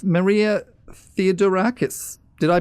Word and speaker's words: Theodorakis: guest with us at the moment it's Maria theodorakis did i pronounce that correctly you did you did and